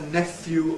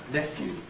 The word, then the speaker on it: nephew: and in due course the pH spelling has given rise to a spelling pronunciation with f nephew well in fact four fifths 79% of my respondents prefer nephew but what is interesting